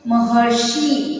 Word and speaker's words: महर्षि: आएगा, महा प्लस ऋषि महर्षि, अर का उच्चारण आना चाहिए, महर्षि।